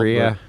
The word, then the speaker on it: Rea: You're going to pronounce it wrong after you see it spelled. Rhea.